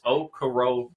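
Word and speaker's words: Okoronkwo: combo of ok ok terrible pronunciation it's okaro KOA I know any point being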